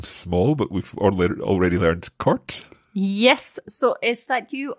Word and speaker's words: kort: But if we talk about a length of something or height of something, we say kort. Kort. Okay, so it's a slightly different vowel sound, but spelled the same, yeah? Yes. And to a Swede, okay, it sounds completely different.